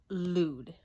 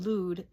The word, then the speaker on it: Lude: pills with his friend Lude. I think it's pronounced Lude, L-U-D-E. I was pronouncing it Lud, kind of like, but I suppose it would be Lude, like dude, only with an L.